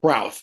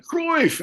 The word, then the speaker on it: Cruyff: first time to Johan Cruyff, and it is pronounced Cruyff. The opening band Architects, the lead singer said Johan Cruyff, and I don't think that's right. I think it's actually Cruyff.